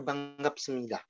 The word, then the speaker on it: 반갑습니다: Kenapa dibacanya banggapsemnida? N ketemu G jadinya ang.